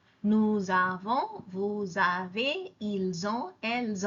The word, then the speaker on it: nous avons: Here I'm pronouncing the S because the second word starts with a vowel. Nous avons, vous avez, ils ont, elles ont. The S becomes a Z and it attaches itself to the second word.